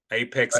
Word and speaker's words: Apex: is that where H apex apex a how do you say that what's the correct so I call it Apex but you can say Apex able so able to reach your Apex right and that ties